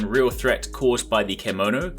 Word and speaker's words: kemono: threat caused by the kemono kimono is basically the name they are using for the characters sounds kind of like kimono only spelled with an E so kemono is basically